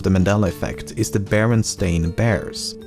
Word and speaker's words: Berenstain: First of all, I actually had to re-record this segment multiple times as I found myself pronouncing it Berenstein even when I should be saying Berenstain, and I've never even heard of the franchise before making this video.